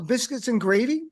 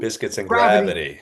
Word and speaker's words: Biscuits and Gravity: Biscuits and gravy currently on YouTube. Biscuits and Gravity. Gravity. I know. I see. That's all right. No, you mispronounced my name. You mispronounced my special.